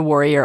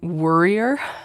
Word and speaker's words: warrior: It's funny, my daughter has started identifying with the warrior archetype herself, but she pronounces it worrier, and it's pretty cute. She's like, I'm a worrier.